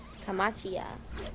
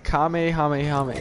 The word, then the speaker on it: Kamehameha: ar what is this it says camachia that's what it's coming it's kamehameha yeah i don't know how